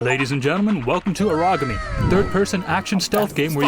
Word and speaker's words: Aragami: We start the game off with some lady mispronouncing the name of this game. It's Aragami, Lakin lady.